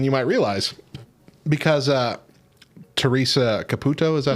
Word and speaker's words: Teresa Caputo: more fake than you might realize because uh teresa caputo is that how you say her name yep